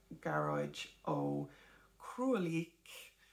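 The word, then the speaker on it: Gearóid Ó Crualaoich: But I do recommend that book, The Book of the Cailleach, Garóid Ó Cruaillíoch, in case you were wondering how to pronounce his name.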